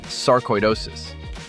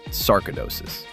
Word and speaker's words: sarcoidosis: The word is saridosis, not sarcidosis. The middle sounds like koi, as in koiish.